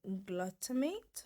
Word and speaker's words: glutamate: It's called monosodium glutamate. That's how you pronounce it, glutamate.